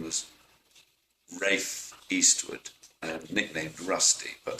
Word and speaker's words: Ralph: There is a tradition in the UK, in England, of pronouncing R-A-L-P-H, Ralph, as Rafe.